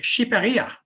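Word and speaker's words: Shqipëria: In its own language, which country's name is, it's pronounced Shiperia?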